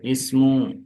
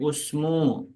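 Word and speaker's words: اسم: ismu, ismu, ibnu, ibnu. Jadi jangan baca ubnu ataupun usmu ya.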